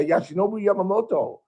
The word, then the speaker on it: Yoshinobu Yamamoto: And I was shocked, he got a Yoshinobu Yamamoto. He pronounced it correctly.